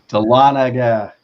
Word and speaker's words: Dahlonega: in Georgia tell Anita Dahlonega it rhymes like is rise with Talladega della Nagy United tell